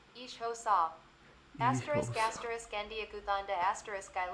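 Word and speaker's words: isiXhosa: asterisk the language is asterisk asterisk isosa asterisk pronounced ishosa asterisk asterisk andanda asterisk I love I like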